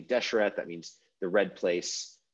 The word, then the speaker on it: desher: So Egyptological pronunciation is desher. Torsh is the Coptic equivalent.